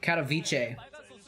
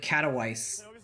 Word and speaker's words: Katowice: Dude, I just found out that it's pronounced Katowice. I thought it was like Katowice or something like that for a long time.